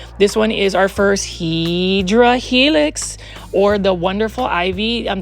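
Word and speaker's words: Hedera helix: I mean, you can see um this one is our first Hedra Helix or the wonderful ivy. Um the correct way to say it is Hideera Helix.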